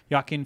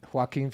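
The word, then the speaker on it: Joaquin: you can Google it it's narrated by um yakin Phoenix and few other famous vegans who's yakin Phoenix J Joker you know the movie Joker hen Phoenix how do you say his name hen Phoenix what did I say yakin the hell's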